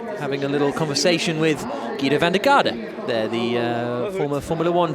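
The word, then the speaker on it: Giedo van der Garde: But or Guido van der Garde, as I think I should actually pronounce it, seeing as we're here in the Netherlands, one of the top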